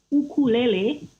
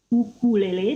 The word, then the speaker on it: ukulele: There is a bit about the history how ukulele, or we can call it ukulele, because this is how the correct pronunciation, ukulele, not ukulele, spread its joys to people in the world.